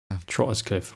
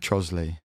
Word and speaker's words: Trottiscliffe: I wonder if there's one on Trottiscliffe. Trottiscliffe. What was it? What was the actual pronunciation? Trosley. Trosley.